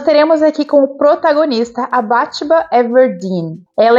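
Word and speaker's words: Bathsheba: Eu sempre pronunciei Batsheba Everdeen, mas eu assisti a adaptação outro dia e na adaptação eles falam Batsheba, então vamos tentar ali dar uma melhorada na pronúncia.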